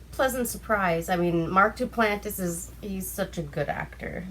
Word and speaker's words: Duplass: It's the movie with Mark Duplass.